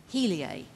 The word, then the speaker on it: Heliae: simon who is the president and ceo of helia technology holdings is that right did i pronounce it right you have it tell us